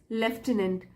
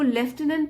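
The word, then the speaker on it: lieutenant: the soldier ask हिज लेफ्टनंट इसको लेफ्टिनेंट pronounce करते हैं स्पेलिंग आप देख लीजिए एल आई ई यू टी ई एन ए एन टी लेफ्टिनेंट है ना ऑफिसर होता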